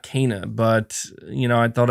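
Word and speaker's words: Kena: keep i keep pronouncing it wrong i keep pronouncing it kenna and i know it's pronounced kana you're saying by the way we've all been saying her name wrong would have never guessed it was pronounced cana like kane uh yeah i have to admit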